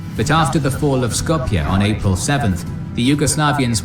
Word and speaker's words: Skopje: Initially it went well, but after the fall of Skopje on April 7th, the Yugoslavians were knocked out of the fight. Oh, it's pronounced Skopje? I thought it was just pronounced Scope.